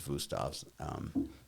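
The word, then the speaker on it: Wüsthof: are like Henkel's and Wustavs on the German side. That's, when you're in high-end culinary, that's where you go. Wustavs are or Wustavs, the German pronunciation is Wustavs.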